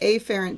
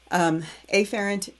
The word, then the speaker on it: afferent: in the digestive tract sends it through the afferent division of the peripheral nervous system to the